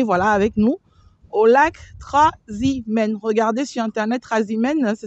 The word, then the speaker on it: Trasimène: c'est une journée, voilà, avec nous au lac Trasimène. Regardez sur internet, Trasimène, ça s'écrit Trasimène, accent grave, N-E, voilà.